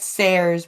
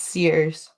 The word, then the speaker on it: Sears: Sayers, yeah, it's pronouncing it Sayers, but it's Sears.